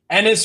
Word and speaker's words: Ennis: Ennis rhymes with penis. That is a fact.